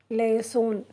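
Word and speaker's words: लहसुन: லெஹசூன் அது ஹிந்தியில் எப்படி ப்ரொனவுன்ஸ் பண்ணுறதுன்னா LAHASUN, லெஹசூன். அது இங்கிலீஷில் கார்லிக்.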